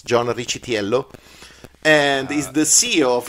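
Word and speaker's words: John Riccitiello: wish Yello Rich yeah if you go with the Italian American pronunciation it's John chello and he's the CEO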